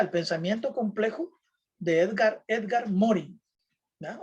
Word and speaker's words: Morin: Así que ahí está el pensamiento complejo de Edgar Morin, ¿ya? O Morin, como querrás pronunciar, ¿ya?